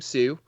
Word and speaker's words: Pseu: So I talk about all that stuff on my podcast called A Boy Named Pseu, similar to the Johnny Cash song, but it's spelled Pseu as pseudonym or pseudonymous.